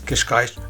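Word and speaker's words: Cascais: she says where you from so she said kishkash I said oh kishkash she said oh yeah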